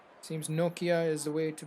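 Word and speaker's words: Nortje: his name is Nokia, even though I was pronouncing Nordje. Seems Nokia is the way to pronounce his name.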